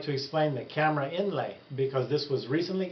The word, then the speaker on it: Kamra: Raleigh today I would like to explain the camera inlay because this was recently FDA approved for